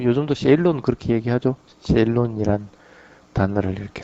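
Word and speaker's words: Ceylon: 스리랑카는 옛날에 그 땀바빠니 그렇게 얘기를 하기도 뭐 요즘도 세일론 그렇게 얘기하죠. 세일론이란 단어를 이렇게 쓰기도 합니다. 예, 실론 아니고 세일론입니다. 그 실론은 영국식 발음입니다.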